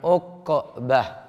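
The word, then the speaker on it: عقبة: Ainnya di dhamma, qafnya disukun, jadi bacanya uqbah.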